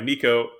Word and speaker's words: Neko: Oh yeah, So this is Furnace Room Lullaby by Neko. I think that's how you that's say her name. Nico. Yep, Neko.